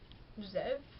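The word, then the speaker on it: Ze'ev: e apostrophe e v Zev I said it Zev I kind of read it zeve but usually I read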